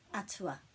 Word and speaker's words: atua: So that sound is āhua, but this one is atua.